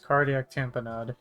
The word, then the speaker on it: cardiac tamponade: First thing we'll cover today is a cardiac tamponade, yes that's how you pronounce this.